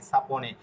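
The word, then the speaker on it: sapone: সা পি অ প এন এ এন এ সাপনে, এভাবে যদি ভেঙে ভেঙে পড়েন তাহলে আপনার উচ্চারণ একদম ক্লিয়ার হয়ে যাবে।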